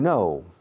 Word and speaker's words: know: To know es saber o conocer. Yo sé dónde vive Sarkozy. I know. K-N-O-W. 4 letras. Sin embargo, la pronunciación es igual que la negativa no.